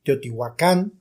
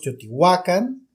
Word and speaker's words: Teotihuacán: Bueno, de acuerdo al náhuatl, todas las palabras náhuatl son graves, entonces se acentúan en la penúltima sílaba. Si nosotros decimos Teotihuacán, lo estamos pronunciando en español. Si decimos Teotihuacán, lo estamos pronunciando en náhuatl. Entonces no hay error, cualquiera de los dos es correcto, simplemente la connotación que nosotros le queremos dar.